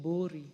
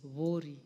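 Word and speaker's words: Buuri: The Honorable Rindikiri Mugambi, member for Vuri. Some people would like to call it Bori, but it is Vori. That's the correct pronunciation, Madam Speaker.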